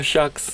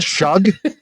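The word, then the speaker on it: Shough: Oh, shucks. Not Shug. Shog.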